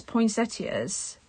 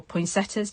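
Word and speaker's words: poinsettia: and then all these poin seters or poin setas depends how you pronounce it I know um they're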